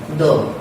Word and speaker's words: the: द का जो उच्चारण होता है वो हमने वैसे द होता है, लेकिन अगर इसके बाद कोई वोवल साउंड वाला वर्ड आ जाए तो हम इसको क्या बोल देते हैं? दी।